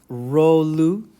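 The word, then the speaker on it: rouleaux: This word next is pronounced rolu, even though it's spelled like that.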